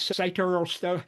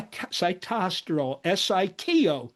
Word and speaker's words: sitosterol: She mispronounced this citto. I'm going to tell you how to pronounce it. So, the the molecule that was discovered in these kids is a phytosterile because plants make it, humans do not. It's cy cytosterol siterol.